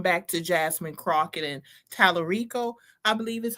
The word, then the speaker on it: Talarico: We got to call it out and I'm going back to Jasmine Crockett and Talarico I believe is how you pronounce it.